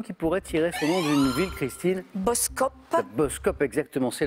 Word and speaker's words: Boskoop: pourrait tirer fléri christine boskoop bad buzz coop exactement c'est la ville c'est la somme bien ça s'écrit avec deux mais ça se prononce exactement à une copine vient